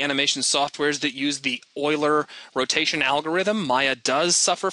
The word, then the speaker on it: Euler: of a 3D application who are familiar with Euler it's actually spelled Euler e-u-l-e-r but like so many of the fancy names out there it's got a funny pronouncing pronunciation like my favorite is